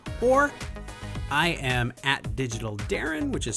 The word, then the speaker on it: Deron: You can speak to us at Good Talk Network, or I am at Digital Darren, which is spelled DERON for some reason.